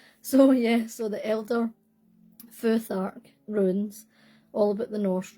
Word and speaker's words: Futhark: The Elder Futhark, Elder Futhark runes. I've been saying Furak like forever, so obviously I should have looked that up. So yeah, so the Elder Futhark runes, all about the